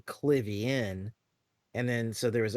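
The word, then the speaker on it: Klivian: real quick uh this they had the hobby clivian slash cliven uh mispronunciation because there was a lot of writers somebody wrote his name as cliven in a comic and then it kind of got stuck that way but it was supposed to be clivian and then so there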